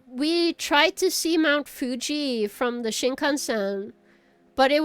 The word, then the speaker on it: Fuji: tried to see Mount Fuji from the Shinkansen, but it was really cloudy, so we could not see uh Mount Fu Mu. Why did I say Mujin? No, Mount Fuji. Fuji.